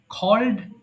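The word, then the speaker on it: called: আচ্ছা, এবার বলেন খল ডাকা, খ, ক কে খ বলবেন, খ। সো খল ডাকা, খল, খল্ড, খল্ড, এটা অনেকে ভুল করে খলেড বলে।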